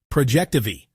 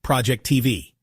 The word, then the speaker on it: Projectivy: Projectivy, not Project TV.